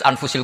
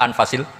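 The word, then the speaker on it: أنفس: saja di sini ditulis anfusil kutub saya baca anfasil kutub karena maknanya kitab ter baik Kalau kitab terbaik bacanya bukan anfus tapi apa anfas ya nanti kamu debat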